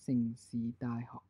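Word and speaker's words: 城市大學: And in Cantonese, it might be pronounced as Sing Si Dai Ho.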